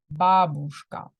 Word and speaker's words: бабушка: Бабушка. Yeah, and it's important. I showed you that the stress is on the first.